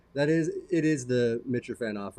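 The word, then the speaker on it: Mitrofanoff: are and JJ that is it is the mitcher fan off right yeah it is yeah there you go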